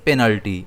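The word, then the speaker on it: penalty: इसे हम प्रोनाउंस करेंगे पेनल्टी। इसमें स्ट्रेस पी पर आता है।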